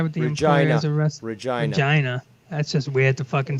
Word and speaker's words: Regina: Regina. That's just weird to fucking say. That's just the way it's pronounced.